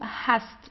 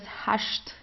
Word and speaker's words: hast: also Do Hast so here you see you have an st at the end of the word so you pronounce it the normal way Do Hast uh in southern Germany we have um we have some dialects where you would pronounce it as hasht okay like in the